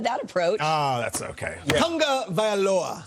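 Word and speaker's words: Tagovailoa: approach Ah that's okay Tonga vioa tongue is the first syllable Tonga I practiced it a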